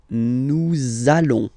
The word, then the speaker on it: nous allons: sure you are, you want to make this beautiful and little liaison, so this little link between the words, so it does mean that you will have to pronounce this z sound, okay, listen to me, nous allons, nous allons.